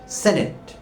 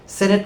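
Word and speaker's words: senate: আর উচ্চ কক্ষের নাম হল সেনেট। উচ্চ পরিষদ সেটি সেনেট কথাটির প্রচলিত উচ্চারণ হলো সিনেট কিন্তু আসলে সেটি ডিকশনারি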